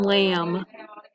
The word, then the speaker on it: lamb: like an m comb you also have it in lamb there's a bee at the end of that word as well all right